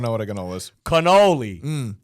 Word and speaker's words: cannoli: Cannoli. There's no G. It's a C. Yeah, there is no G in it. So why you say ganoli?